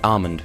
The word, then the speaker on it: almond: don't remember but like you don't really pronounce the L it's just Armond not almond or almond